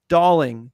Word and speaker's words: Dowling: get Doling back um he does pronounce his name darling does has everyone gotten the news on this darling darling so like darling yeah like a doll yeah yeah yes darling